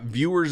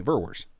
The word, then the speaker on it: Verwers: yep all the time it's viewers and i'm like eh not quite there's an extra r no i it's like um but yeah viewers is all the time however the crazy thing is when people hear me say my name then they just get it it's like oh okay verwers that's yeah i got it